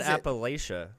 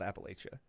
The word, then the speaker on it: Appalachia: us off yes so call call it Appalachia and not Appalachia oh if you if